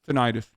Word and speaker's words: tinnitus: people by the way that's the proper way to say that word but i will never say it like that it's tinnitus people who got the covet